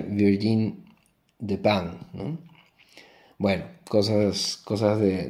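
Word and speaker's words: Virginie Despentes: video anterior eh dije Virginia despentes eh le llaman la despentes aquí en España pero en realidad eh se debería pronunciar Virgin de pan no bueno cosas cosas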